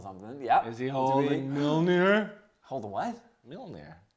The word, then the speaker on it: Mjolnir: Is he holding Mjolnir? Holding what? Mjolnir. Mojner. Nobody says that. Is it Thor? Thor! It is Yay! Thor! And I always pronounce it Mojner, but I get the J's probably silent.